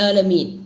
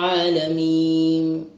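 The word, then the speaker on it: العالمين: നൂനാകുമ്പോഴും നേരത്തെ മീമിനോട് പറഞ്ഞതുപോലെ തന്നെ അല്പമൊന്ന് നൂനാണെന്ന് മനസ്സിലാകുന്ന രൂപത്തിൽ ചെറിയൊരു ഹുന്നത്ത് അവിടെ കൊടുക്കേണ്ടതാണ്. അപ്പോൾ അൽഹംദുലില്ലാഹി റബ്ബിൽ ആലമീൻ അല്ലെങ്കിൽ നമുക്ക് എന്തായി പോവും, അൽഹംദുലില്ലാഹി റബ്ബിൽ ആലമീൻ മീം ആലമീം അങ്ങനെ ചുണ്ട് കൂട്ടിപ്പോയാൽ അവിടെ മീം വരും. അതുകൊണ്ട് തന്നെ ആലമീൻ അങ്ങനൊരു എന്ന് പറയുന്ന രൂപത്തിൽ അല്പസമയം അങ്ങനെ നിൽക്കേണ്ടതാണ്. രണ്ട് മൂന്നാമത്തെ ആയത്ത് അർറഹ്മാനിർ റഹീം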